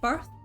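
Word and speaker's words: berth: I know I have to say it like that. Bear birth. Wide birth. Wide birth. Not bear.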